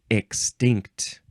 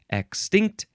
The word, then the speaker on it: extinct: four episodes next is extinct first form you can emphasize the first or the second syllable extinct extinct adjective from the 15th